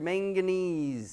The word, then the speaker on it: manganese: malignum M MO manganese one's hard to say when you're looking at the word manganese sounds like mayonnaise chlorine like you put